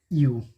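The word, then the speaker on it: ewe: तो सबसे पहला अगर हम लें वर्ड, तो एक वर्ड आता है यू, ई डब्ल्यू ई। इसको प्रोनाउंसिएशन करते हैं यू। ध्यान से देखिएगा यू।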